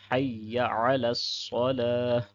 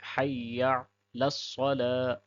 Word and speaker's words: حی علی الصلاۃ: اگلے کلمات ہیں حی علی الصلاۃ، اس میں اکثر احباب یا کو لمبا کر دیتے ہیں حی، اور پھر اکثر جو مین غلطی ہوتی ہے وہ عین کو مس کر دیتے ہیں، یعنی حی علی الصلاۃ، حی علی الصلاۃ، عین کو چھوڑ دیتے ہیں۔ تو ایک حرف